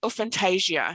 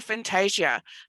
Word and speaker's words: aphantasia: wanted to talk to you about today is fantasia has anybody heard of a fantasia yep so